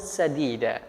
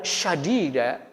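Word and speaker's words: سديدا: Firman Allah dengan lafaz sadida dengan sin, itu artinya qawlan sadida adalah perkataan yang lembut ya. Ini firman Allah. Kalau seandainya ada orang yang salah membacanya, misal qawlan syadida dengan shin, dengan sya, maka ini sudah merubah makna.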